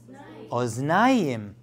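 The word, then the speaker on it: אוזניים: In plural, it's oznayim.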